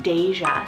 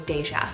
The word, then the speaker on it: Deja: My husband actually added this name to this list last minute, and that is the name Deja. So it's spelled D-E-J-A, just like deja vu.